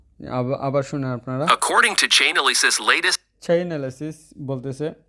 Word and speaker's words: Chainalysis: I'm the CEO and founder of Chainalysis.